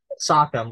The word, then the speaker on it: Sachem: alliance with the Wampanoag Sachem or Sachem, I've heard it pronounced both ways, Massasoit on March 22nd